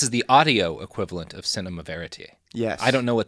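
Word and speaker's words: cinéma vérité: you did fantastic yeah you even said it right fantastic yeah I love saying things right when people say Cinema variety I get mad no that's the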